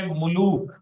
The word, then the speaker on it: ملوک: Catholic Bible ترجمے میں ملوک، میم پہ بھی پیش ہے، لام پہ بھی پیش ہے، تو اسے ہم ملوک پڑھیں گے۔ اور اس